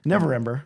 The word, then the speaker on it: Neverember: I always mispronounce that name. Neverember? Neverember.